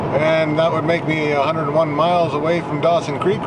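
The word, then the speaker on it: Wonowon: a little town called 101. Now 101, they spell it W-O-N-O-W-O-N. And it's at mile 101 on the old Alaska Highway. And it is, like the way that the natives spelt that was 101.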